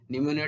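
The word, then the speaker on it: pneumonia: निमोनिया start हुए नी निमोनिया टा पी रु स्टार्ट हुए किंतु पी सेठी साइलेंट थाए हला कि पी रो प्रोनाउंसिएशन हुए नाही तेनु तीनटा ऑप्शन हेई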